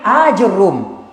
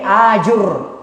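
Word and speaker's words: آجرّوم: warna omset dada kemudian arwahnya bertasydid jadi ajur ajur room ya Nah seperti itu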